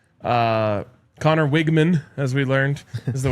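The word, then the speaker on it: Weigman: Uh, Connor Wigman, as we learned, is the way to pronounce it.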